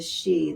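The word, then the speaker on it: sidhe: So that the celely court now those are the good the she the s i d h e is the she is how you say that.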